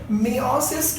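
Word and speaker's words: meiosis: तो आप लोगों को मैं बता दूं कि मियोसिस के वक्त, या मायोसिस भी बोलते हैं, एज डू यू प्रोनाउंस, जो भी, ठीक है?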